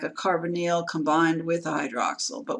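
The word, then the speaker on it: carbonyl: methyl group is C with three hydrogens the carbonal group that's how you pronounce it carbonal is a carbon with a double bonded oxygen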